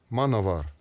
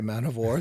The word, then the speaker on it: Manowar: is not correct well in Germany people do pronounce it that way because they pronounce w v you know um it's not an insult they can say man of war they can say man